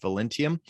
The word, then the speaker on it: Velentium: Am I pronouncing Velentium correctly?